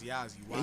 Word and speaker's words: Yazzie: Yazzie, I took so my name is spelled, but I took the L out of my name and slid the I to the end. So it's Yazzie.